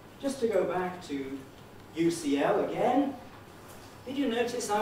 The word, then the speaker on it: UCL: the beats is the stronger one is it ucl or ucl it's the second ucl the second one is